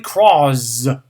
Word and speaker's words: Crozz: And no, I did not mispronounce. It's actually Crozz. C-R-O-Z-Z, or Z-Z if you live in a European English-speaking country.